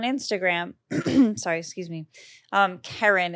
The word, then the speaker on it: Kerryn: me out on Instagram sorry excuse me um Karen it's k-e-r-r-y-n-fian f as in Frank e e